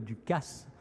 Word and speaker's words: Dukas: Je dis bien Paul Dukas, car ce génial compositeur tenait tout particulièrement à ce que l'on prononce ce S.